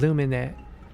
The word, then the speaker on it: Lumine: It's called Lumine. And it's spelled Lumen.